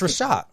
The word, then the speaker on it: Reshat: It's Reshat.